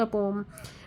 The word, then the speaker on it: poem: ये जो पोएम है आपकी, आप इसे पोम भी बोल सकते हैं। आज की जो लेटेस्ट प्रोनाउंसिएशन है उसके अकॉर्डिंग बच्चों, पोएम को आजकल पोम बोला जाने लगा है।